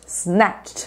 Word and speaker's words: snatch: moderna que é snatched snatch Presta atenção na pronúncia porque aqui o pacote é completo entendeu a gente não fala SN SN não snat Ó presta atenção na minha boca ó snatch snatch primeiro fale snatch aí